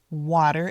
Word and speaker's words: water: Water is spelled with a t, but we make it sound a little like a d.